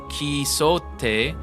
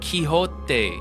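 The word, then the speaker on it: Quixote: Oh ho, I learned that Dawn's last name is not pronounced Kote, but Kiote. Yeah, like Don Kiote. Not not Ki, not Kote. Yeah, it's Kyote.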